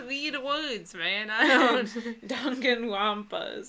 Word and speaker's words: Danganronpa: Danganronpa is how you say it.